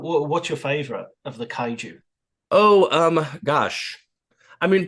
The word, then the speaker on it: kaiju: with the pronunciation because the Japanese word for them is kuru. Is that right? Uh, kai kaiju. Kaiju. Kaiju.